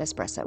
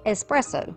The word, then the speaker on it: espresso: And by the way, thank you to one of my viewers who told me that it's pronounced espresso. My whole life, as country as I am, we have said espresso. That is incorrect.